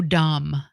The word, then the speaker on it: dumb: the fees are so dumb they're not just deceiving they're dumb dumb dbe Dum me because the B is silent ah and D says